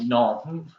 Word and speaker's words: Nantes: He's playing with Nantes. Is that how you pronounce it?